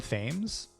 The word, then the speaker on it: Thames: played by uh hudson thames okay that's how you pronounce his last name tames maybe but i thought he